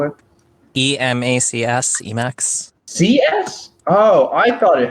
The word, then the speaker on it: Emacs: thinking about what's going on as well it's e-max it'll work right now we figure out we